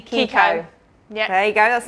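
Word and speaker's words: Chicco: A lot of people say Chico, but it's actually Kiko.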